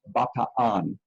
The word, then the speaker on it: Bataan: Maybe you say it Bataan, but the correct pronunciation is Bataan.